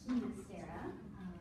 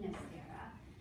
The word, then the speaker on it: Ginastera: I'm a believer of Himacera, the Argentinian pronunciation, but other scholars will argue with me, but I'm adamant on it being Himacera.